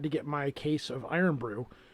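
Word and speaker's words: Irn-Bru: get my case of iron brew which is spelled irn bru so i'm gonna have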